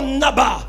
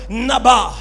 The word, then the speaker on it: naba: mot prophétisé dans ce texte, c'est le mot naba. Est-ce que tu peux dire à ton voisin le naba ? Ça s'écrit N A B A.